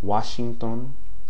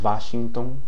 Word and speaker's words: Washington: words and names okay Washington okay sounds like an English W some speakers May pronounce it more like a V Washington Wasington okay depending now on to